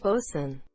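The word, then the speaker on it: boatswain: terms likely word is pronounced Lordan bosun is pronounced bosun I'm from Australia and all my life I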